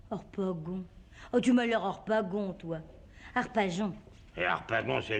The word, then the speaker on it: Harpagon: J-O-N, ça fait bien Jon. Et ça s'écrit G-O-N et ça fait gon.